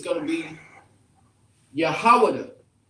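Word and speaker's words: יהודה: Jew is Yahawada. Yahawada is in the ancient, and Yahawada is in the Assyrian.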